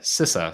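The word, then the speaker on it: CISA: just last week sisa sent out or sisa sisa sorry that is the correct pronunciation I've been corrected by friends that says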